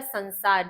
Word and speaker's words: संसार: लोके अर्थात संसार में अब हम क्या बोलते हैं उच्चारण इसका संसार जबकि यहां भी सम उपसर्ग होता है तो हम इसका उच्चारण क्या कर रहे हैं संसार में सम्मानम